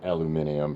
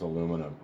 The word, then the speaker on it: aluminum: my running joke uh aluminium for you guys in europe so i know you guys are saying it wrong but it's cool we'll correct you and let you know it's aluminum okay so here we go